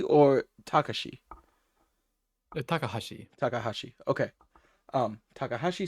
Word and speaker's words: Takahashi: Um, t uh tak is this would I pronounce this as takahashi or takashi?